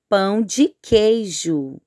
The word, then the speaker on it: pão de queijo: Pão de queijo é uma comida típica do Brasil, então a pronúncia é pão de queijo.